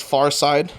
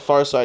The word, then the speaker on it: Pharcyde: Night 1, it was Farside.